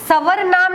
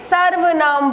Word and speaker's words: सर्वनाम: उच्चारित किया जाता है तो हम इसे सवरनाम नहीं बोलेंगे हम इसे सर्व नाम बोलेंगे ठीक है तो उच्चारण